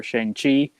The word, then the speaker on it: Shang-Chi: watch the trailer for shang chi uh looks super good if jake was on here he'd be hyping how it has changed i i heard i heard i heard that it's pronounced shang-chi but who knows they haven't